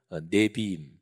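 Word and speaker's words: נביאים: 이런 것들이 쭉 들어가요이 세계 덩어리를 히브리어로 이렇게 발음합니다 율법서는 토라 이거는 많이 좀 들어보셨죠 그래도 그 다음에 두 번째 예언서는 네비 그리고 세 번째 성문서는 케토빔 이렇게 발음합니다 근데 유대인들은 또 실제적으로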